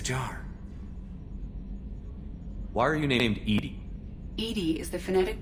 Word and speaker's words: EDI: airlock is a jar why are you named Edy Ed is the phonetic pronunciation of e that is an acronym for